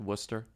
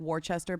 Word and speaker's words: Worcester: conidence than you expect Worcester I always say it wrong yeah but you would say like Worchester but it's not yeah I said Wester and then you laugh